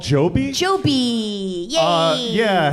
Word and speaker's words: Joby: Joby. Joby. Yeah. Uh yeah, helicopters that rhyme with Kobe.